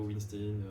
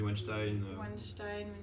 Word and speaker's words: Weinstein: d'accord sur la prononciation on sait que en anglais ils disent plutôt winstane nous on dit Winston entre les deux on